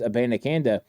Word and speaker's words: Abanikanda: back Israel aananda and you're going to hear a lot of pronunciations on his name but it is aananda and Izzy is what